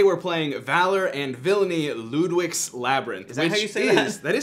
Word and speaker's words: Lludwik's: doolin and today we're playing valor and villainy ludwig's labyrinth is that how you say yes that